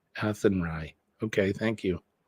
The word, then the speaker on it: Athenry: it's very windy the fields of atry is pronounced athenry athenry okay thank you it's like slan right is